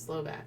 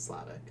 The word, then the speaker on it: Slovak: Yeah, I think that was Laura from Slovak. I always say it wrong. I think it's Slovak, not Slavic. I think it's Slovak. Yeah. Because Slavic is a race of people.